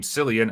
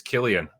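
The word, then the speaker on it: Cillian: Murphy back in 2008 he kept pronouncing his name San and eventually Murphy politely told him it's Killian whoops I just did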